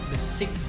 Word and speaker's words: besik: Terus akhirnya coba-coba cari di googling, ini lucu nih, besik, B-E-S-I-K, satu, besik, besik, bacanya gimana Chris? Besik. Besik, oh besik, bacanya, oh gitu.